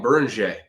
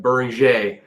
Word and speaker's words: Beringer: And what helps me with the Berning pronunciation is that the French don't usually say like their last letter of a word. It's always silent unless it's like a C sound. So for me like buring like that helps me